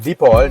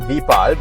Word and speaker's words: Deepal: Yes, it's pronounced Deepall, not Depal. But yes, it's easy to say Depal as well.